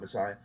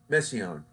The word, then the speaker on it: Messiaen: Oh no, not Messiah. Messiaen.